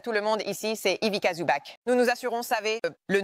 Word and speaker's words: Ivica Zubac: Ivica, vous pouvez voir, sur les t-shirts que nous avons reçus, j'adore une campagne astucieuse pour le joueur défensif de l'année, prononcé Ivica Zubac.